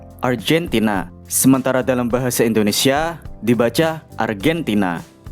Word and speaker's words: Argentina: Negara Argentina penulisannya tetap tapi dalam bahasa Inggris G-nya dibaca seperti J. Argentina.